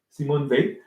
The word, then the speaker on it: Simone Weil: Justice by Simon V we check the pronunciation of her name in French Simon V I will put a